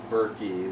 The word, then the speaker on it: Burkey: i am your set wrath here with dean berkey is that is that him how you pronounce it yeah i don't think i've ever